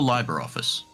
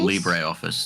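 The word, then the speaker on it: LibreOffice: secondly or or or Liber office Liber office or Libre office depending how you pronounce it uh it's basically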